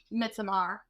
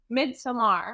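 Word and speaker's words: Midsommar: made the Heredity in Midsomar, which are great horror movies. Thank you. You said it the way it's supposed to be pronounced. Midsummer.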